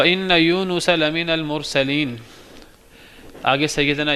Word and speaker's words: यूनुस: और बेशक यूनुस अल सलाम लोग यूनस कहते हैं। यूनस स्पेलिंग स्पेलिंग लिखते हैं। वाई ओ यू एन ए एस एन यू एस होना चाहिए। ये यूनुस है। नून पेश है।